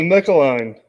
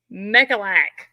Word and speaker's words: Mecalac: Now, how do you say it? Mecaline. There is no N in there. How do you see that? Mecaline? No. Well, how do you say it? I don't know, but it's not Mecaline. You can't make fun of me if you don't know how to say it. There's no N in there. Mecalac. Mecalac. That sounds right. I heard him say that. You suck. So Mecalac, that's what we'll call it.